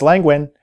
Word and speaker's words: Lenguin: That's Lenguin as in Lenguin the Penguin.